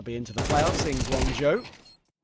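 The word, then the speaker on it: Guangzhou: Between this game, they'll be into the playoffs in Guanghou. Guangha. I've been tried to I've been taught how to pronounce that today. Like more Guang Guangjo.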